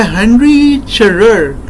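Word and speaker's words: Henri Charrière: Hi guys, today we are going to discuss a novel called Papillon by Henri Charriere. That's how he pronounces it actually.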